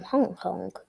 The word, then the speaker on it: Hong Kong: Uh a man from Hong Kong. Yeah. The pronunciation usually is Hong Kong. Well that's the English pronunciation. Okay. Syllable two stress.